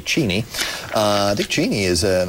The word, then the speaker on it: Cheney: cheni is a and I like to pronounce his name correctly cheni uh dick cheni is